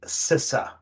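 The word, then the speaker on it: CISA: infrastructure Security Agency that's more easily pronounced sisa c-i-s-a the Wisconsin office of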